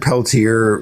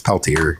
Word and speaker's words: Peltier: He did he did pronounce Leonard Peltier wrong like everybody else pronounces it. You know they're like Leonard Peltier and it's like no it's Peltier. He's from with the with the it's not it's not that French name.